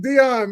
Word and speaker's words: De'On: So is it Don? Like you know what I'm saying? Are we supposed to pause? Like what's the what's the man? Yeah. It's just Dion, man.